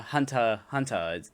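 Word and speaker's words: Hunter × Hunter: Much like uh Hunter Hunter, even though it's written with an X in the middle, you're just supposed to say Hunter Hunter.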